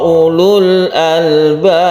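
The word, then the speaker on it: أولو الألباب: U-nya pendek karena wawunya ini tidak berfungsi, dia hanya sebagai tanda tulisan bahwa kata-kata ulu ini harus ada wawunya dalam tulisannya, tapi tidak menjadi tanda baca atau tidak dipakai ketika kita membacanya.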